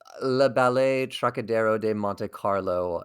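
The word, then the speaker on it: Les Ballets Trockadero de Monte Carlo: Well, you toured with Le Ballet Trockadero de Monte Carlo. Did I kind of pronounce that Yes.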